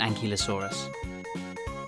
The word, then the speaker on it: ankylosaurus: bye velociraptor how do you say that again an key low saw russ how big was an ankylosaurus it was as long as a bus and